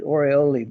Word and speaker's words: oriole: that that's the hooded oriole bird call it some people pronounce that hooded orioli bird and there's different kinds